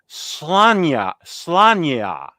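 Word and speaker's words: Sláine: Am I pronouncing Bisley right? Slanya.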